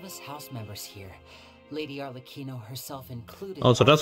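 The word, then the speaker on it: Arlecchino: you're pronounce her name on Aquino I thought it was like arleck and then Chino but I must have read a written uh read this and read this in the in Chinese pronunciation on The Kino to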